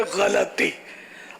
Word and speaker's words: غلطی: ماشاءاللہ صحیح تلفظ ہے غلطی.